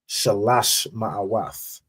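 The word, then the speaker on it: שלוש מאות: You could tell me how you'd pronounce 300. So like here for me, Mm-hmm. Shalash Ma'awat. Shalash Ma'awath.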